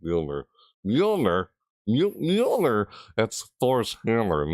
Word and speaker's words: Mjolnir: I used to say Mjolnir, but they say it's pronounced Mjolnir.